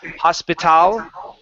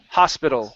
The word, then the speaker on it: hospital: We don't want to say hospital, but just like people, several, hospital. It's an O sound at the end.